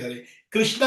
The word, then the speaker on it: हरे कृष्ण: शुरू कर दीजिए बस हरे कृष्ण हरे कृष्ण कृष्ण कृष्ण हरे हरे हरे राम हरे राम राम राम हरे ये रामा नहीं है कृष्णा नहीं है हरे कृष्ण इसका उच्चारण ठीक तरह से करिए कई बार लोग बोल